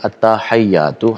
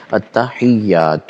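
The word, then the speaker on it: التحيات: جو ہے التحیات ہے، ہمارے دوست احباب اس کو پڑھتے ہیں التحیات، ہا کے اوپر زبر لگا دیتے ہیں، تو یہ غلط ہے۔ اصل میں جو حقیقت میں لفظ ہے التحیات ہے، یہ تلفظ ہے۔ دوسری جو غلطی کی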